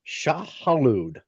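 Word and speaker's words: Shai-Hulud: thing I want to talk to you in pop culture is Shah Halud. Oh, And I did yes. I did pronounce that right because Shah Halud not only That was really good, actually.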